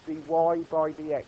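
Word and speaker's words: dy/dx: So that's how we would say that, we would pronounce that dy by dx.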